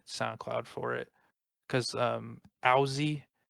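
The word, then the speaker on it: Owsey: for it because um aussie which is spelled uh o w s e y is a huge influence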